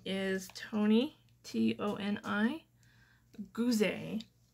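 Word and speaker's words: Goozey: I also, you can find me on Pinterest at, my Pinterest name is Toni, T-O-N-I, Goozee. It's my husband's last name. It's French, so it's spelled G-O-O-Z-E-Y.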